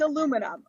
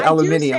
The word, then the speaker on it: aluminum: It's aluminum. Okay, so you still say that. Yeah. Okay, you don't say aluminium.